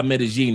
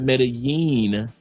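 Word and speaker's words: Medellín: Two L's make a G sound. That's why Medigene is not met is not meten.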